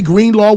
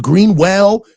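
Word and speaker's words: Greenlaw: Dre Green Law was an afterthought. People were getting his name wrong, calling him Greenwell.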